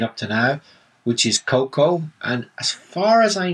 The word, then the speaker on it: cocoa: and after it's been processed they call it cocoa so and how do you spell these two